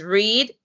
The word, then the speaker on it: read: Read, as you can see, is read. Same spelling in past tense, but we pronounce it read in past tense.